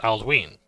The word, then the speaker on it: Aldwin: Aldwin is pronounced Aldween because of the long vowel on the sound of the Y.